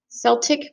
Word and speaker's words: Celtic: Hello, going to read to you Celtic creation. Some people may pronounce it Celtic creation. When I was in Ireland, they pronounced it Celtic creation, so I'll call it Celtic creation.